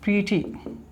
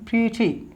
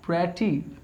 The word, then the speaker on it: pretty: एक वर्ड और जोड़ लो यहाँ पे, प्रीटी, आई एम प्रीटी, नॉट प्रेटी, प्रीटी। Is how we pronounce this word, pretty, not pretty, pretty, क्या कहोगे pretty,